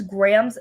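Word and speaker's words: Graeme: shipped by angie hoffman why is his name spelled like that why is graham's name spelt like that i don't understand it's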